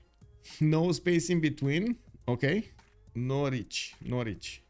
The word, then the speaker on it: Norwich: Norwich. Okay. Kind of rhymes with porridge. Yeah. Norwich porridge. Google Norwich pronunciation, you can hear it.